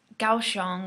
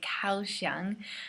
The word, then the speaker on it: Kaohsiung: because you guys right GAO xiang with a k' so actually we call it Kaohsiung because we don't know how to say in Chinese we can only guess how to say it using the alphabet that you guys give us so we say cows young but yes it takes